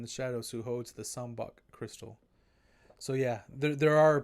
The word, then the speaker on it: Sambac: shadows who holds the Sun buck crystal so yeah there are probably a couple pronunciations that you weren't clear on you probably made your own but yeah this it's called the sambar crystal Suleiman is su Lee